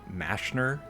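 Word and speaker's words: Mazchna: first ever slayer task here from Mashner. According to the OSRS wiki, that's how you pronounce the name.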